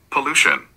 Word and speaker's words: pollution: 연결 발음 되죠 펄루션 이거는 션 사운드 예 T I O 에는요 션 발음 난다고 보면 됩니다 T I O 에는 션 발음 난다서 펄루션 다시 한번 들어볼까요 pollution 네 pollution 됐습니까?